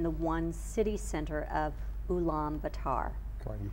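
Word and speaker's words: Ulaanbaatar: people live in the one city center of ulam batar you pronounced it correctly good oh well thank you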